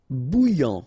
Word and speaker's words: bouillant: Bouillant, final T not pronounced.